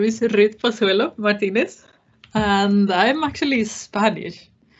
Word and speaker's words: Pozuelo: rude yes yes yes sir you very well pronounced and said my name is pasuelo martinez and i'm actually spanish so i was